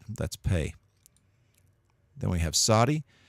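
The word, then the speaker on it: צדי: pay then we have Saudi Saudi is pronounced really like a TS sound like cats Saudi is a letter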